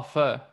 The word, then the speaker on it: pho: you pronounce uh pho how do you pronounce that p-h-o yeah oh oh oh fur okay yeah because my australian accent i always just go fo so i don't know